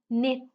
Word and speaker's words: knit: No, knit. Okay, I'm knitting. I'm making a scarf. Night. Answer. So here the W is silent.